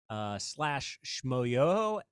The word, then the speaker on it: Schmoyoho: But you can look at our YouTube videos or our TikToks at /Schmoyoho, SCHMOYOHO, accent on the yo.